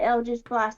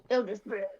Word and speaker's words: Eldritch Blast: Oh, I'm just gonna try Eldritch Blast to see what it does. Yeah. Well, you didn't say it properly, Donna. Eldritch Blast.